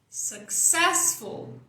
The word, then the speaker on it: successful: Ses é a sílaba tônica. Successful.